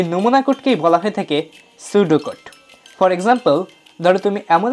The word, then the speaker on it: pseudocode: আজকের আমরা শিখবো পি সুডোট ওহ ভুল করে ফেললাম উচ্চারণটা হবে সুড কোড বুঝেই গেছো বানানের সাথে